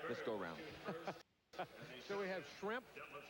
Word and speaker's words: Schrempf: So, we have Schrempf. If you mispronounce it a little bit, call it Shrimp.